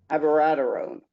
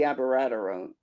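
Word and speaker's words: abiraterone: not lupron alone any longer it's lupron plus avaradarone or possibly another drug but preferably abaradarone how do you spell that i've known that rick how do you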